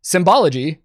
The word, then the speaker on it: symbology: In Nazi Germany, the Nazi Party, the SA, and the SS all used Sonnenrad symbology, pronounce that S as a Z there, symbology at times, which has led neo-Nazis and other modern white supremacists to adopt such images.